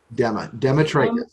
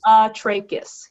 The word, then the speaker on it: Demetrakis: It's Demetrakis. Okay, say it one more time. Demetrakis? Demetrakis. Dema or Dema? Dema. Demetrakis. Demetrakis, yes.